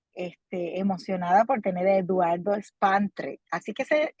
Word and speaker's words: Spandra: que sumamente eh este emocionada por tener Eduardo spandre Así que se pronuncia tu nombre Así es tal cual okay